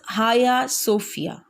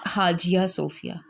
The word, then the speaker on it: Hagia Sophia: This is Hagia Sophia, not Hagia Sophia. Is that clear? So you have to focus the pronunciation of the word hospice. And the second is Hagia. This is not Hagia.